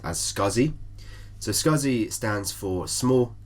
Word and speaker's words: SCSI: So the first one is SCSI, often pronounced as SCSI.